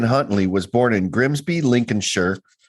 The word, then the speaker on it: Lincolnshire: was born in grimsby lincoln's shirt because that's how they say it i would say lincoln shire lincolnshire like mike is